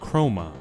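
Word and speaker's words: χρῶμα: Just like usual, chrome is a Greek word that means color, and they pronounce it chroma.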